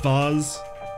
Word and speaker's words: vase: It's pronounced vase.